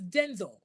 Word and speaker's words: Denzel: So, the correct pronunciation for his name is Denzel.